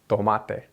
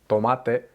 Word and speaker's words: tomate: we say tomato but in Spanish it's tomate tomate in the Spanish version you don't feel air coming out of your mouth